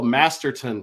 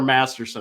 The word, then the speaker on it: Masterton: 1-time Conn Smythe winner, 1-time Selke winner, 1-time Bill Masterton Trophy winner. I said it right. No more Masterson.